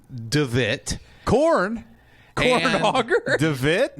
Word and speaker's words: De Witt: De Witt? De Witt is how you pronounce it in Dutch.